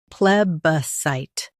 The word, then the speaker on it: plebiscite: U.S. stress pleb. UK stress sit.